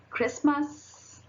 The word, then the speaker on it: Christmas: Now, letter T can also be little sneaky and also be silent, like it.